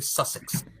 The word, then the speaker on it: Sussex: think we did that offer already did I pronounce that correctly Sussex susex yes you did he's from Brighton yes